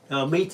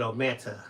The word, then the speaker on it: Omita: Omita, if you hadn't said that, I would have said Ometa.